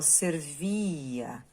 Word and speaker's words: servia: Quando eu falo servia, sobe o tom ao pronunciar a sílaba vi.